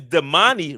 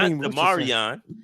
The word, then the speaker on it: Damani: His name is Damani Richardson, not Demarion.